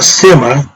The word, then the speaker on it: SMA: SMA, which is spelled S-M-A, or Sema, remember?